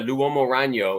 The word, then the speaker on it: L'Uomo Ragno: I love the Italian ones, and I really like the L'Uomo Ragno is how you pronounce it, Jeff, by the way.